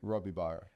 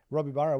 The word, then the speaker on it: Robibaro: Robibaro. Robibaro.